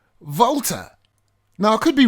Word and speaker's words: Walther: the correct pronunciation is voter so the W almost sounds like a V or soft F and the th turns into just the T voter now could be wrong